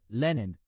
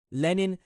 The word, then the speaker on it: Lenin: Ich schätze Lenin. Ich benutze die russische Aussprache. Lenin, er glaubte, wir seien nur Reizreaktionsmechanismen.